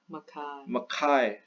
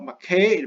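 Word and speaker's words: Mackay: we go to okay now we go to Makai see not McCain Makai is so much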